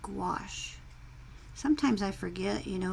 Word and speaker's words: gouache: You know, I used to say gaucho, or, oh boy, that's a hard, there's no W in the word gouache, but that's how you pronounce it, gouache.